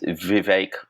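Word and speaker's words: Vivek: case for this is Viv rhymes with cake ramaswami who initially supported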